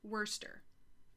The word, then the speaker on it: Worcester: Apparently it's pronounced Worcester. I think, Worcester, says Sherry.